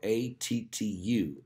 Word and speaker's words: Attu: That's spelled A-T-T-U, Attu, Alaska.